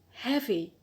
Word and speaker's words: heavy: The next adjective is the adjective heavy, heavy. So here the stress is on the penult, the second from the end, on hair. Why? Because we have applied rule 1c in this adjective.